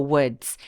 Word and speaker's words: woods: WS라고를 붙이면 숲속이 됩니다 근데 여러분 이거 발음할 때 우스 이렇게 발음하시는 분들 많은데요 요거는는 디귿 받침 럼 발음을 하면서 마지막에 TS 끝나는 것처럼 what라고 손인해 주세요 자 그럼 문장 쭉